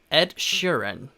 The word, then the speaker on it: Ed Sheeran: 바로 Ed Sheeran. Ed Sheeran 이라고 발음을 합니다. 약간 에드 시런을 좀 굴리는 그런 느낌이긴 해요. 근데 에드 시런에서 에드 시런, 에드 시런 하면서 좀 굴리면 되는데요, 이름 같은 경우에는 Ed